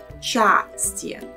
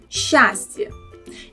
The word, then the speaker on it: счастье: It's a little bit difficult to say it like счастье and move the tongue from a position for a sound s to ch. Much better and easier pronounce it when the tongue slides with sh sound, счастье.